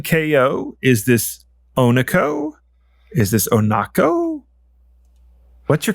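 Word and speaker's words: oneko: is cat yes okay it's Ono then uh because it is a cat but if you want to know how to spell it how to find it or hard to install it it's spelled one as an o n e KO um so it's a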